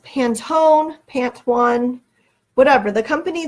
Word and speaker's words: Pantone: so Caroline's telling me it is pronounced pan tone so now I know